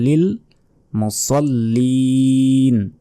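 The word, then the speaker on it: لِلْمُصَلِّينَ: জবর স আছে আছে এখানে তাই বলতে হবে লিল মুসল্লিন শেষে তিন সেকেন্ড টেনে পড়তে হবে মুসল্লিন অতএব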